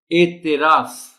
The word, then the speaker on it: اعتراف: تلفظ ہے افادیت، انسانیت۔ اعتراف، تے کے نیچے زیر کا خاص خیال رکھا جانا چاہیے۔ اعتراف۔ شمولیت، اب دیکھیے